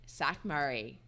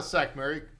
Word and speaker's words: Sackmary: a four-letter word my guest today is sakuray am I pronouncing that right uh sack Mary pretty close s Mary all right welcome to